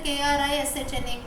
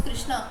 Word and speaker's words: Krishna: Because when I write there K-R-I-S-H-N-A, Krishna, I know what is Krishna, so I am pronouncing it Krishna. But maybe a person does not know who is Krishna. He will go by the spelling, he will say it is Krishna, right? Because K-R-I is Kri.